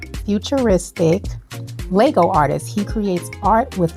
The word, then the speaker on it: Lego: was utilizing is at actually call Legos but actually he said there's no s it's just Lego anyway guys excuse my